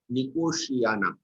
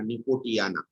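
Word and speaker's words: Nicotiana: कई लोग प्रोनाउंसिएशन में थोड़ा गड़बड़ करते हैं, बीच में टी है, ये टी साइलेंट है, निकोशियाना टी साइलेंट है, इसका प्रोनाउंसिएशन ऐसा नहीं करना, निकोटियाना, निकोशियाना टैबेकम।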